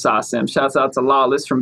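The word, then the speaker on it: SACEM: know in every country i thought it was sakum for the longest time because there's a c in there but then my my french homie lawless told me it's actually pronounced sasam shout out to lawless from bounce gang it's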